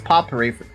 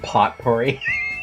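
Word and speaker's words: potpourri: enjoy the smell as poery po oh it's poery I call it pot pory it's po it's poery that's why I pronounce it right hm isn't that a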